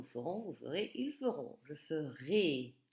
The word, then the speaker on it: ferai: Je ferai, prononcé et, comme dans élève.